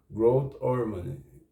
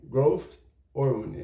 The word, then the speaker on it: growth hormone: o GH que é o growth hormony o growth hormone growth hormone Essa é a pronúncia mais correta do inglês né quer dizer hormônio